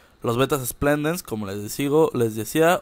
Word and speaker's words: splendens: está mi macho según yo es un beta splendens que así se pronuncia este tipo de beta porque hay beta